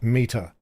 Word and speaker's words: METR: They say they pronounce it meter.